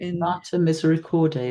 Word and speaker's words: Mater Misericordiae: Mater Misericordiae, is that how you pronounce it?